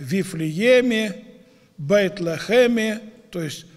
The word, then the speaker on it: Бейт-Лехем: Вифлеем по-еврейски произносится как «Бейт-Лехем», то есть «дом хлеба».